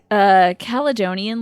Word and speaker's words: Caledonian: If it's Caledonian, like Scottish, then it's a hard C.